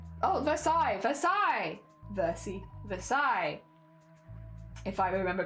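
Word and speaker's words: Versailles: I know I've only lost one bead okay versai versai thank you thank you that is correct appreciated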